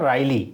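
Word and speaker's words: wryly: इसको ध्यान से देखिएगा इसको वैरी या राई ऐसे नहीं पढ़ते हैं इसमें डब्लू साइलेंट रहेगा राई पढ़ेंगे राइली ऐसे पढ़ते हैं इसे तो यह क्या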